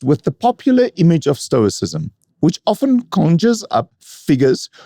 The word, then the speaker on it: Stoicism: It's Stoicism, and its followers are Stoics, not Stoicism and Stoics.